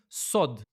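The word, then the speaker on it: סוד: And that word is sod. S O D. So you can read it easily. Sod. That's how you pronounce secret.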